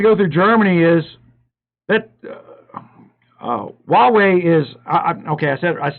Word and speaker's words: Huawei: It's pronounced Huawei. I know what it's pronounced. I say hoo-wah. And the reason I say hoo-wah is I'm speaking in English, and Google translates English. And if I don't say the word with an H in it, Google has no